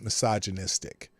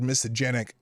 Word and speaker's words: misogynistic: Now, he keeps, by the way, he continually mispronounces misogynistic. He's got the word misogenic in his head, but he means misogynistic.